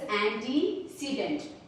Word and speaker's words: antecedent: Pronunciation of this word is antecedent.